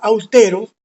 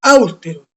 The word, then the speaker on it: austeros: Decía que la palabra austeros no es áustero. Para que fuese áustero tendría que tener tilde en la última, penúltima y antepenúltima sílaba en la U.